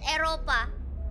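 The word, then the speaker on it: Eropa: In Indonesia, we call it Europa. Europa? Oh, it sounds like it's very erotic. Mm. Yeah. come to the erotic continent. Wait, so have you been before to Europa?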